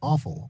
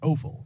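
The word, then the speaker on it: offal: that being organ Meats also known as aul or oal look I've heard it pronounced both ways and I'm probably gonna yeah it's very appealing to hear that you should eat something that's pronounced as awful say it both ways today anyway with the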